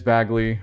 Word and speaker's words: Bagley: So along with Morgan, you'll get some more from Bagley, and it is Bagley.